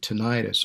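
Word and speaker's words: tinnitus: five decades I've suffered from tenus some people pronounce it tonius or ringing of the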